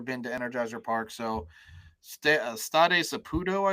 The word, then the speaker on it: Stade Saputo: They've never been to Energizer Park, so Stade Saputo, I believe, is the pronunciation of their home ground.